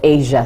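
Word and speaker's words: ESIA: short form into an acronym pronounced as Asia. So if you hear me say Asia, it's not Asia the continent but rather Asia with E SI A environment and social impact assessment.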